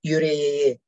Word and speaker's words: yüreğe: And after that, put it the vowel letter, appropriate vowel letter, to convert this K to yumuşrage to be like that. The right pronunciation to it is yüreğe.